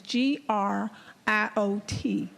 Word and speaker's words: griot: about a group of people called griot the griot was a member of traveling poets musicians and storytellers who maintained the tradition of oral history in parts of west africa agrio let me spell it is g-r-i-o-t pronounced griot they were responsible for keeping a record